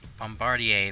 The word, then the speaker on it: Bombardier: it's getting cloudy no one can pronounce bomba bomba dare no bomb body air I'm out there I swear to God I usually can pronounce it but now yeah I'm definitely gonna pronounce it now I got thinking about it way too much I'm like just staring at the word and it's it just seems so weird now bombardier there you go thank you so much